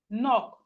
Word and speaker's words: knock: We have knock. Knock. The K is silent.